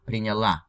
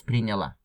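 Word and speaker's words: приняла: in feminine would be with the stress on a prenyala. That's the standard. May Maybe I don't remember, but maybe the first time when I read, I put the emphasis at some other syllable, but that's prenyala just for you to know.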